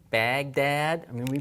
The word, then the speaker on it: Baghdad: write this in English we use a G Baghdad I mean we pronounce it from the front of the mouth